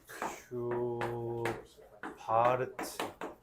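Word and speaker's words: Schwarz: 코시 코시 슈바르 슈 바르츠 이게 그 독일 애들은 W를 B라고 했잖아. 그죠?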